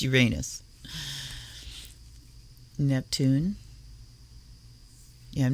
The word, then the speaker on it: Uranus: And no, I'm not one of the ones that changed the way I pronounce Uranus because we're all 11 years old. It's Uranus.